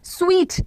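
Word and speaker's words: suite: आगे लिखा गया है इस वर्ड का प्रोनाउंसिएशन सूट नहीं होता, द वर्ड इज स्वीट।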